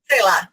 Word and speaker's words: Selah: Not Who I Imagined was a Selah, is that how you pronounce that? Selah. Mm-hmm.